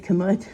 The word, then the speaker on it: Camus: So the Camus brand, I have not tried it. If you have tried that, I know it says Camus, but it actually pronounced Camus, I recently learned.